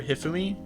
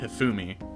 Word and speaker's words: Hifumi: Shaggy with me I I used to call her hiffumi but then I heard people pronounce it hifumi and so now I'm